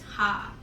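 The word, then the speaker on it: ห้า: five four five right five is ha yeah so that's how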